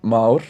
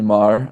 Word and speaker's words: Már: My name is Mah or um everyone just calls me Mar because people generally can't pronounce it correctly. So Mar is fine. You can call me Marah.